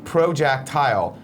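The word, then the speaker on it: ProJacktile: my screen name wrong it's pro Jack tile it's like projectile but with Jack instead you know I think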